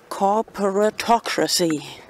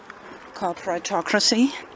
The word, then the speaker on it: corporatocracy: Anyway, do you know this hashtag which rhymes with democracy? Corporatocracy. ¿Conoces este hashtag que se rima en inglés con democracia? Corporatocracy.